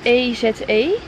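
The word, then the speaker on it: Èze: lekker opstap naar een plaatje dat heet hoe spreek je dat uit e e Het is eze Laura had het op eh gevonden dus daar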